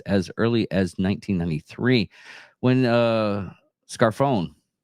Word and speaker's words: Scarfone: Documents used the two terms that exist as early as 1993 when Scarfone, and that's how it's pronounced, Scarfone, wrote about the Dixie Mafia and the Southern Mafia working together with the Italian Mafia in the South.